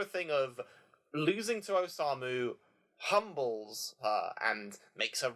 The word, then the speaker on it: Osamu: I should probably start pronouncing it like Katori, but I'm just so used to saying Katori. Same with Osama, yeah. Osamu, yeah.